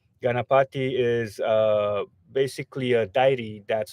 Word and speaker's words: Ganapati: But so it's pronounced Ganapati. Ganapati is basically a deity that's supposed to uh, protect travelers, remove obstacles from the road.